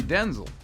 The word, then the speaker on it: Denzel: you and while you've probably been saying his name wrong this whole time my name's actually Denzel it is not yes